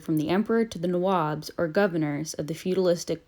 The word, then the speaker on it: Nawab: in the English language Nawab which the 21st century oh dude English dictionary defines as Lord or Governor English mispronunciation of Nawab as nabob became a term used